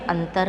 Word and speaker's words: अतः: पूरा ह नहीं बोलते हैं बल्कि आधा ह बोलते हैं। फॉर एग्जाम्पल यहाँ दिया है जैसे दुख, अतः, प्रातः। नीचे दिए गए शब्दों के उच्चारण में अंतर का अभ्यास कीजिए।